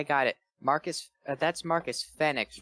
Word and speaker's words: Fenix: San Diego I got it Marcus that's Marcus Fenix right so like they wanted Marcus Phoenix but